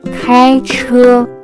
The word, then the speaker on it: 开车: First word that we have is to drive car or vehicle, which in Chinese can be pronounced as 开车, 开车, 开车.